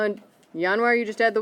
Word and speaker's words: Januar: Okay, pronunciation is harder than the spelling. Okay. Try the first one. Januar.